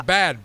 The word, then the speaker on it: Bad: Oh, bad. B-A-D. It's spelled B-A-D, but think of it as bath.